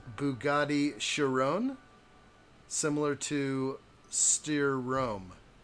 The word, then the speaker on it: Chiron: they are coming let's see Jacob says Bugatti kryon it is pronounced Bugatti Chiron similar to steer room right is that true